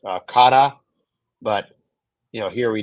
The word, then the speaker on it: kara: It's actually pronounced kada, but you know, here we knew everybody's going to call it cara, which is totally fine.